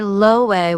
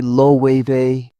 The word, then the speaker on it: Loewe: I've heard people say Loewe with English sounds. Spaniards say Loewe.